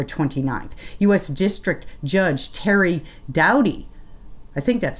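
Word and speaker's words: Doughty: u.s district judge terry dowdy i think that's spelled i think that's pronounced right it's spelled d-o-u-d-o-u-g-h-t-y of louisiana then expanded that injunction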